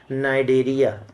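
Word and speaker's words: Cnidaria: Faf phylum आता है नाइडेरिया नाइडेरिया सी silent होता है बेटा इसमें टिश्यू ग्रेड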